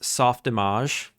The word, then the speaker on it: Softimage: It's pronounced softimage.